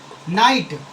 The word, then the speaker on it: knight: है इसीलिए क्या है यहां पे के साइलेंट है नाइट नाइट यानी योद्धा